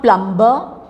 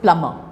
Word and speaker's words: plumber: debt come doubt tomb B is also silent in it is not plumber it is plumber so don't say we